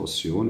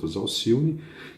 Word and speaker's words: Alcione: Tem um acento lá, uns pronunciam Alcione, outros Alcione, que é um espírito que nós admiramos, né?